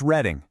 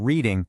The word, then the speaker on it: Reading: It's reading, just like the color red. It's not reading like reading a book.